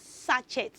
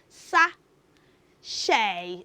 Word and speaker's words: sachet: me pure satet water well the word is not satet the word is s a c h e t children do not say suchet it is so wrong to pronounce that spelled word as such it so Lola what is the right pronunciation H the right pronunciation of that word is sa sh okay so can you